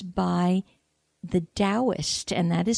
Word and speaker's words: Taoist: and it's by the Taoist and that is spelled T it Taoism starts with a T not a D but that it's pronounced as D so T for Thomas AO ist the Taoist master Alfred Wang H